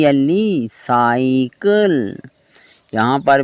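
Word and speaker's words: psycho: आगे लास्ट में है पी एस वाई सी एच ओ साइको silent letter वाली वीडियो में मैंने आपको बताया था कि जब भी एस से पहले प आता है तो हमेशा प साइलेंट होता है वह साले लेटर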